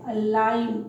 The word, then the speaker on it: align: G silent है यहाँ पे, ये है अलाइन।